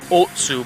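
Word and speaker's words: Ōtsu: It's got the line over the O, so it's Otsu probably.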